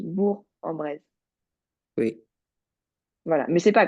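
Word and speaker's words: Bourg-en-Bresse: Bresse mais en fait dans ce nom-là de ville on prononce pas le G donc c'est juste bourg en brise oui voilà mais c'est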